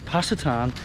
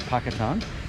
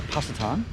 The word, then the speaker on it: Pacitan: from here so uh pasta tan I think it's possitan how they pronounce this place not Pakistan so pasatan so I think I've got that right and uh that's one